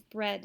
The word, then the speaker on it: bread: peach flea peach weak you'll notice a lot of these have the long e sound gene eat bean peas peach flea reach reached all of those have a long e sound but the only one that has the short s sound is bread in this case read the